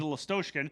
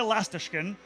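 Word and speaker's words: Lastochkin: because for 4 years I called him Nikita Lastoshkin. Yeah, and that's it why it was okay for him. He didn't tell me. Then I find out earlier this season that I've been saying it wrong. So now we're all trying to relearn. It's Nikita Lastashkin, and I'm doing the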